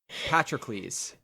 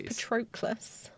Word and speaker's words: Patroclus: Patrocles. That's how you say it. Is that how you say it? Yes. Why did I always think it was Patroclus? It's that O, but I'm pretty sure it's Patrocles makes more sense.